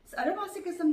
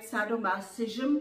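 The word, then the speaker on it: sadomasochism: सैडोमासोकिज्म जो है उसको इंग्लिश में शायद सैडोमासिज्म कहेंगे। हम जर्मन में उसको किज्म प्रोनाउंस करते हैं।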